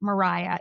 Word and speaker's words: Maria: So the eldest sister was Mariah. Now it's spelled Maria, M A R I A, but they say it as Mariah.